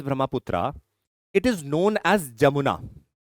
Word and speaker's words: Jamuna: Once Tista joins Brahmaputra, it is known as Jamuna. NCERT also mentions an alternative word by the base of pronunciation as Yamuna also.